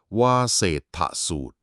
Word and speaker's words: วาเสฏฐสูตร: มี ชื่อ ว่า วาเศษฐูตร คำ นี้ อ่าน ว่า วาเศษฐูตร ซึ่ง มา จาก นาม